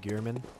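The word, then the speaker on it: Gehrman: so many questions yet so good answers oh German did I say that right gearman okay Armin cool but glad I said it right I hate when I mispronounce it is noises the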